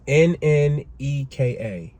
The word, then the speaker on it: Nneka: I'm already mispronouncing her name. So, but it's Nneka.